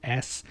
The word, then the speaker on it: NintendOS: The operating system, named Nintendo, it's actually called, just to spell it out for you here, it's NINTENDOS, so it's Nintendo S. In other words, it's one word, Nintendo S.